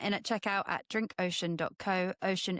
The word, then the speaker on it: Oshun: Ocean is spelled OSHUN.